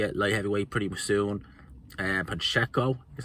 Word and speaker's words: Pacheco: Pacheco, is how you say, Diego Pacheco.